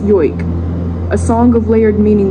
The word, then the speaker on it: joik: birth they are gifted a joik, or pronounced yoik, a song of layered